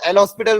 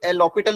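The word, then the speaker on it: L'Hôpital: एक तो एल हॉस्पिटल rule, एल लॉपिटल rule भी बोलते हैं इसको, एस साइलेंट होता है यहाँ पे, एल लॉपिटल या फिर एल हॉस्पिटल जो भी बोलना हो, और दूसरा फैक्टराइजेशन मेथड।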